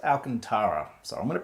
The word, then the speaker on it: Alcantara: you got a leather pair and a angled alcanta which I think is how it's pronounced oh hi it's me again uh so I Googled it and it's actually pronounced Alcantara so I'm going to pronounce it wrong for